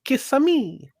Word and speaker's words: Kissimmee: Or as my friend says, Kissimmee. Mm. Yeah, well, that's how you spell it. That's how you spell it. That's literally how you spell it. You gotta say it like Kissi. Mario too. Yeah, it's Kisami. Oh, Kissimmee. Yeah, yeah, yeah, Princess Peach, please.